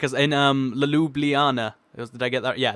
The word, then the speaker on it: Ljubljana: Like as in Ljubljana. Did I get that? Yeah, that's how you pronounce it.